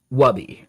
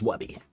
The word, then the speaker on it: Wubby: Okay, so it is pronounced like Wubby, right? Like in the Pay Money Wubby thing. Or was I right the first time? Okay, it is Wubby.